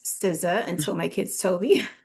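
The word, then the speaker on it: SZA: Siza which I didn't even know how to pronounce Siza until my kids told me.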